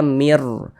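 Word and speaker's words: مِن رَّبٍّ: Kami membacanya sebagai mir. Jangan dibaca sebagai min.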